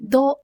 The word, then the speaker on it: though: The word though is pronounced to rhyme with the word low.